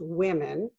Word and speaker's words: women: is for woman only remember how to pronounce those en is pronounced women such a weird word and a n is pronounced woman so are we talking